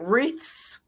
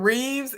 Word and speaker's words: wreaths: say y'all i'm country how do you say it wreaths yeah with an s with a t-h uh okay because i'm saying reeves and reefs and you know people